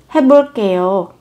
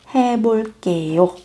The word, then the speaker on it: 해볼게요: Âm các bạn sẽ phát âm với âm căng và mạnh. 해볼게요.